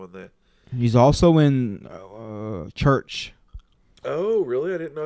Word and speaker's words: VRCH: Church. Or a Sacramento Doom band. 20-minute songs and shit like that, you know. That's a badass name for a band. And it's spelled funny like CH. Oh, VRCH.